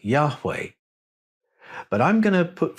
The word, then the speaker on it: Yahweh: The consonants we have are Y, H, W, H. How were they pronounced? Now, when you put the vowels into the name, the H's almost disappear. It becomes Yahweh.